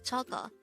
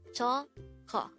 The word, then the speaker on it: 저거: The second way of saying that in Korean is 저거. This is pronounced as a two-syllable word. 저거.